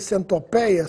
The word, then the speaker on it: centopeia: Sabia que apenas no Brasil as palavras colmeia e centopeia são pronunciadas com timbre aberto?